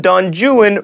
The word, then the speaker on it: Don Juan: then contract otherwise don't the Italian libertine is Don Juan but in Byron's epic poem Don jwan rhymes with ruin you would not explode in the